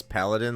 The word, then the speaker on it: paladin: I know someone who says paladin like Aladdin, but with the P at the start.